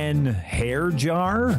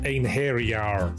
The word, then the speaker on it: Einherjar: Hair jar? It's pronounced Einherjar.